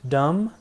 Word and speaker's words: dumb: upcoming slides stair dum-dum you don't pronounce the B be silent dumb it's adjective means stupid